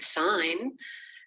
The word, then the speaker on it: sign: There's no B sound in the word doubt, no G sound in the word sign, no W in who.